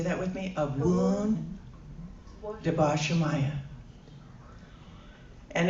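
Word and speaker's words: Abwoon: Abun. Debos Shamaya. And it's it's spelled A B W O N for abun.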